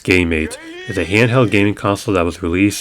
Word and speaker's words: Gamate: talking about is this the gamate the godmates or pronounced game mate is a handheld gaming